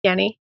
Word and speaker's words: Jenni: Um, so my name is Jenny, pronounced Yenni.